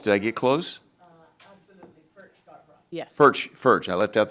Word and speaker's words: Furchtgott-Roth: And help me with the pronunciation. Furchtgott-Roth, did I get close? Absolutely, Furchtgott-Roth.